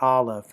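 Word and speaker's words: Alef: We pronounce it olive.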